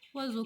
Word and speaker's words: oiseau: Oiseau contient pas le son yang. Oiseau. Oiseau. Il contient le son z.